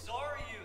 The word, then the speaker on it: Xaryu: It's Xaryu.